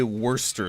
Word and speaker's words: Worcester: Now, most people don't say Worcester sauce. They say Worcestershire sauce. But it's Worcester. That's actually how you're supposed to pronounce it. That's how you pronounce the place name, Worcester.